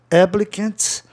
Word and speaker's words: applicant: Applicant, palavra proparoxítona terminada em vogal consoantes. Então a sílaba tônica fica lá no começo, ó, applicant.